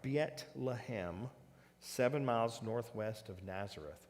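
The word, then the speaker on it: بيت لحم: blue arrows now the bethlehem is biet lahem beyet lahim is what how it would be pronounced in arabic now bethlehem of zebulon and it's mentioned in joshua 91 15.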